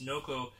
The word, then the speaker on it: Noco: I want to say Norco, but it's Noco Genius.